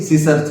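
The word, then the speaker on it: scissor: सी क्या होता है, साइलेंट होता है। बात समझ। इसको क्या पढ़ेंगे मेरे भाई, इसको क्या पढ़ेंगे, सीसर पढ़ेंगे।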